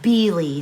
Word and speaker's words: Beale: pattern is by jennifer it looked like beale to me but irena i believe pronounced it b lee so i'm not positive